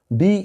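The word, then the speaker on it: dearth: the opposite of ডা ডি ই এ আর টি এইচ ডা আসলে এটা ডার্থ হবে না কিন্তু কেমন উচ্চারণ হবে উচ্চারণটাও সেখানেই ডি ই এ আর টি এইচ ডা আরটা উচ্চারণ হবে না তো বলতেছে যে হুইচ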